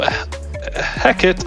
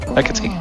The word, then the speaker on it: Hecate: But also, Hecat is Hecate. Thanks, Chad. Hecate. Really? Yeah, Hecate Yeah, is how they're they're going pronounced.